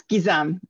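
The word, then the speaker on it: Gizem: Another name that I'm going to completely mispronounce, Jizem. That's so wrong. It's fine. It's Gizam. Thank you. Gizam.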